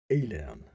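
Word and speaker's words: Aillen: fire breathing underworld dweller alien that sounded like alien it sounded like alien but it spelled a-i-l-l-e-n and one alien way of saying that well so he faced the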